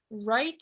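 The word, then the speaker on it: write: round y otra en esta doble vr más o menos se produce como r no más ignoren la w wright y significa escribir y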